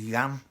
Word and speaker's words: Jan: twig at first, but J's in German and Poland, they'd actually pronounced Y, so it wasn't Jan, it was Jan, but I didn't get